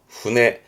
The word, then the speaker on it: 舟: 배니까 일본어로는 여러분 다 아실 만한, 그렇죠, 훈해. 배는 훈해입니다. 그렇죠. 이 한자 말고 이 한자를 많이, 요게 배선자인데 요거를 주로 우리는 접하게 됩니다. 둘 다 배인데요. 보통 앞에 배주자, 요 훈해의 경우는 작은 거, 지금 그림처럼 작은 거를 쓰는 편이고요.